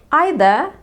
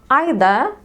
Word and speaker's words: either: يعني في البريتش accent you can say either neither without the R. طبعا مش هننطق ال R في نهاية الكلمتين. either and neither or either and neither.